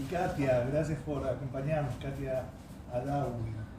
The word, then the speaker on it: Adaui: Y Katia, gracias por acompañarnos, Katia Adawi. Yo tengo que pronunciar acento en la I. Adawi. Adawi. Adawi. Con acento en la I le dije.